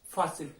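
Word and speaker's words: fácil: तीसरा एग्जाम्पल बिल्कुल वैसा ही है, फासिल, फासिल, फासिल, उच्चारण ज्यादा किस पे आ रहा है, ज्यादा वजन किस बात पे आ रहा है, फा पे, फा, फासिल, ठीक है, फासिल।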